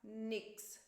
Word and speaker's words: nichts: E normalmente as pessoas não vão falar nichts, mas vão falar nix. Eu escuto muito mais nix do que nichts. Eu acho até difícil pronunciar nichts. Eu acho mais fácil pronunciar nix.